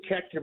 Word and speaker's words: Koechner: I say Koechner, but that's actually the wrong pronunciation. I'm from a small town in Missouri, and it should be Koechner or Koechner. But so really, close is good enough for me.